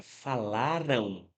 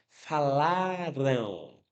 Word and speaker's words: falaram: Eu quero que você perceba o seguinte: quando você pronuncia a palavra falaram, você percebe que ocorre um som de ali no finzinho da palavra, né? Falaram. Falaram. Não é falaram, é falaram.